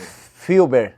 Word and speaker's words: Fulber: Filber. Filber. Tinha uma trema, né? Mas a gente tirou, né? Aí ficou o Fuber.